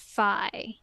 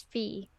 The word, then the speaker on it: Fi: appreciate that like okay they pronounce it fi I always get it confused because TR says Fe um fi the sword spirit is